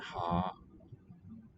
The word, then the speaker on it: han: Hen har oljen. Okay, not neuter. Hen is spelled H-A-N. Ha.